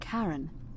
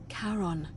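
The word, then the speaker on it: Charon: a little off the name you heard wasn't Karen it was c h a r o n as in karon the Fairman of the Dead karon who in exchange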